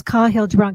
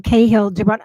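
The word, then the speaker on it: Kahlil Gibran: and I I never know how to you pronounce kahill jabbron kahill jabbron there's the correct a jillion ways to pronounce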